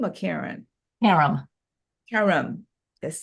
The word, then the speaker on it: Karem: And Karem, and I'm saying Karem is Kareem or Karem? Karem.